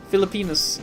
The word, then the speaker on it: Filipinas: Filipinas. I mean, that's how you pronounce it.